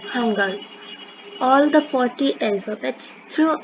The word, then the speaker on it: Hangul: Just pronunciation is Hangul.